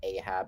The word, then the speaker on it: Ahab: we get toonic yeah there are English pronunciations of of like names like for example Ahab rather than aave but like yeah like kth